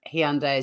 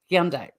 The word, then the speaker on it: Hyundai: did they say again you go all day every day Hyundai they told us that Hyundai so I'm not saying I'm the authority on the pronunciation I just think that's interesting because yeah I've heard it I've heard people in America sort of calling it like Hyundai um but I've also